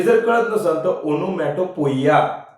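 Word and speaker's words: onomatopoeia: तसा उच्चार करा लागल जनरली त्याचा उच्चार हा ओनोमॅटो पिय असा त्याचा उच्चार आहे तर मग पण चिव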